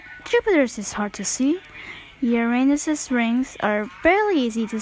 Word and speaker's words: Uranus: my name is Uranus it's pronounced Uranus not Uranus anyway I have 28